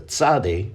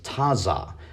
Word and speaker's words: tzade: And he used to pronounce the 18th Hebrew character, the tzade, as taza, but now he pronounces it tza.